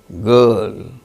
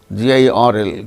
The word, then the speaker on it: girl: But when it is followed by a consonant sound, it is not uttered, as in case of certain, garden, girl, GIRL, girl.